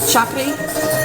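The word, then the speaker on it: thiakry: So how is this pronounced again? Chakri? Yeah. Chakri? Okay.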